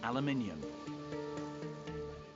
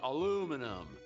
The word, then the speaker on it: aluminium: Webs say aluminium and the Americans say aluminum. But who's right? Well, uh, Sir Humpfrey Davy, the British guy who discovered it in 1807, he wrote down the name as alumium, which no one calls it. Then he changed it to aluminum and then he changed it again to aluminium. So, either he didn't know what to call it or he just couldn't spell it. It's aluminium. Aluminum.